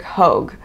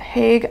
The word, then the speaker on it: Hogue: All by Carrie Bostick Hogue. I pronounced it Hague. I thought it was an A. I even said H-A-G-E. It is H-O-G-E.